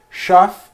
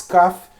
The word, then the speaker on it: Schaff: em inglês do philips chá se você pronunciar como é a origem do nome dele né suíça ou philips cafe como os americanos vão fazer tá philip schaff um